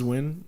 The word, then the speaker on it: Nguyen: Either they pronounce it like Win or what's the other? Nguyen. Nguyen. Yeah, Nguyen. It looks like it's pronounced Nguyen, but it's Win.